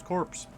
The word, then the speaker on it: corps: places just go themselves corpse which is interesting because when when you're talking about like joining the Corps it's spelled the same but you don't pronounce the P but because this is